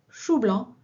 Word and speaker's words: coup blanc: Un joueur qui ne marque pas de points fait un coup blanc, prononcé chou blanc dans la région du Berry.